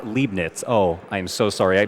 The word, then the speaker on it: Leibniz: Oh, it's pronounced Leibniz.